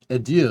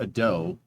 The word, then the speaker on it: adieu: It's French. It's spelled A-D-I-E-U. It's me. Not ado. It's not, that's how you would spell it, how you would pronounce it with an English accent. But it's adieu. It's bone apple tea hours for them.